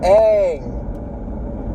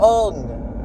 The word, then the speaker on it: Aang: It's Aang. Maybe it's pronounced differently because it's like, what is it, A-A-N-G? But like, still, I feel like, you watch one episode, even the first episode, that should be enough. His name isn't Ung. It's become a funny joke between me and a couple other people. Where like, oh my gosh, it's the Avatar, Ung, or whatever. Because that's how they pronounce his name in the movie.